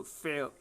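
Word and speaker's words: fair: फेयर, इसको इस तरह से बोला जाएगा, दोनों स्पेलिंग देख लेना फेयर की, तो फेयर, यहाँ र जो है वो बोला नहीं गया, फेयर।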